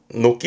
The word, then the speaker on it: 軒: 뜻으로는 혼자 두게 되면 발음은 녹기 합니다.